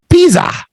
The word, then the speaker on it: Pisa: with a zed Pizza in Italian the s's sound like Zeds and the Zeds sound like TS in Italian so so that's why this one is I hope I got that right the food is called Pizza Pizza the city is called Pisa ah these are famous